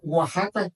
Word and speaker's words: Oaxaca: El restaurante se llamaba Oaxaca, que era y le pusieron para que lo pudieran pronunciar ellos w a H a caja para que así lo pronunciaron.